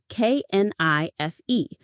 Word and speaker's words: knife: A knife is for cutting, knife. Remember, the K is silent.